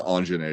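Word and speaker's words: Aunjanue: and then anjanae ellis i think it's anjanae is how you pronounce her name anjanae ellis from king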